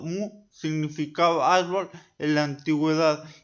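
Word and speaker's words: 木: El segundo ejemplo pronunciado mu, significado árbol en la antigüedad y representa de manera estilizada el tronco, la copa y las raíces del árbol.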